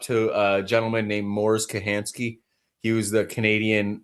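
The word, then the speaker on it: Kochanski: Um so, uh it's spelled it looks like it's spelled Kachansky, but you pronounce it Kahansky.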